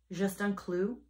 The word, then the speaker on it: Juste un Clou: this is the ring the small just on clue is how you say it just a nail it's meant to